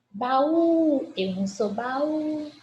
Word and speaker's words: baú: Baú, eu não sou baú. Baú, oxítona. Última sílaba tônica, portanto, coluna da esquerda.